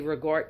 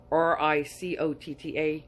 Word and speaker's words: ricotta: christmas cookie with regard i say regard you probably pronounce it um r-i-c-o-t-t-a you probably say ricotta i don't so anyway um this